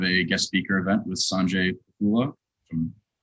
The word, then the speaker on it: Sanjay Pothula: It is March 23rd, and today we have a guest speaker event with Sanjay Pothula. If I'm pronouncing that correctly, Sanjay, you can correct me or? Yeah, it's Sanjay Pothula. Sanjay Pothula.